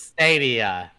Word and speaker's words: Stadia: I think It's Stadia. That's how you pronounce it.